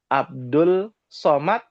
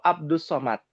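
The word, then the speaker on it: عبد الصمد: Orang Indonesia ada yang bilang Abdul Somad. Masih ada tuh yang bilang begitu Abdul Somad ya. Yang betul Abdus Somad.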